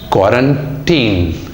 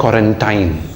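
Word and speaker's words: quarantine: क्वारंटीन, इट्स नॉट क्वारंटाइन, the correct pronunciation is क्वारंटीन। आइन करके नहीं है ये, क्वारंटीन, ठीक है।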